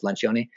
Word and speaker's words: Lencioni: It's about you might pronounce it different if you speak it in like American or British English, but in Italian it's Lencioni.